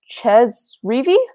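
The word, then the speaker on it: Chez Reavie: you about, though, actually was, I hope I pronounced his name right. Ches Reavy?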